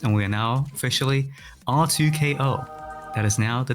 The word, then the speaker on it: R2K-O: It's pronounced R2K-O, you know?